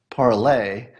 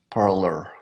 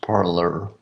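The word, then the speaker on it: Parler: and it's actually pronounced parlor P AR le AR had it been a foreign word you would pronounce it the other way but it's pronounced parlor I don't know if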